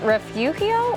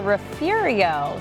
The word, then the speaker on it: Refugio: Nos vamos para refugio. Órale, vámonos. It's spelled R-E-F-U-G-I-O. But in South Texas, pronunciation varies and even sometimes sparks debate.